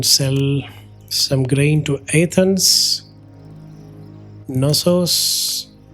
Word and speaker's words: Knossos: We can sell some grain to Athens, Knossos, I think K is silent, and Komi also.